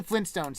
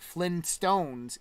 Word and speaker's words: Flintstones: family as the flintstones the actual name of the prehistoric family is flint stones not flynn stones it's flint stones like the flints to